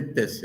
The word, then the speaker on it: त्यस्य: अब ये वैदिक उच्चारण है, तस्य के बदले त्यस्य हो गया।